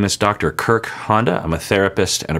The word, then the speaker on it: Kirk Honda: my name is Dr Kirk Honda I'm a therapist and a professor sometimes I say my name is Kirk as in Captain and Honda as in the lawnmower or because that's kind